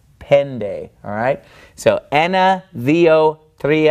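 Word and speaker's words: πέντε: followed by the knee it is pronounced more like an English D so instead it's not Penta it's pen day alright so enna vo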